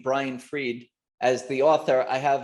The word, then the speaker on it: Fried: first name b-r-a-i-n and if you say my last name the way it's the way it's spelled then i'm brain fried nobody wants that i know it's appropriate being an inventor but it's b-r-i-a-n is my first name brian reid it's brian freed well i'm sure hopefully